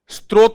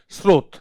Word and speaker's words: स्रोत: आपने देखा होगा ये स्त्रोत भी कह देते हैं, स्त्रोत नहीं होता, ये होता है स्रोत।